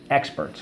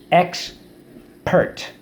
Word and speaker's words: expert: they visited and study experts so let's go X Peart expert first syllable X second syllable pert expert how do we mark